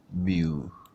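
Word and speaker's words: μ: We are pronouncing this symbol as mu, okay?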